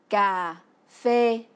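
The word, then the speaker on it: cà phê: fois son célèbre secret en vietnamien car fait qu'ils se prononcent car fait par exemple pour dire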